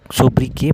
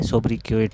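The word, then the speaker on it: sobriquet: सोब्रिके पढ़ा जाता है, सोब्रिकेट को, क्योंकि ये फ्रेंच वर्ड है तो इसका जो लास्ट का टी है ये साइलेंट रहता है, ठीक है।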